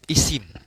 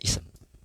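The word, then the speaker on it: اسم: Yang pertama, perbedaan bentuk isim, ya. Bukan isim, ya, sebenarnya ism, ya. Karena kita di negeri kita, ya, terjemahannya jadinya, ya, ism seharusnya, ya. Bacanya ism. Tapi tulisannya isim, tapi dibacanya ism.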